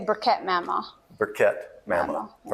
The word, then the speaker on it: Bereket Moma: Mamo, did I say it right? Yes. Say it for us. You can say Bereket Mama.